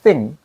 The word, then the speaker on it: think: think.